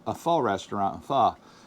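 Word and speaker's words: Pho: go out to a fall a fall restaurant f f that's how you say it f i was want to say fa or F anyways yeah we went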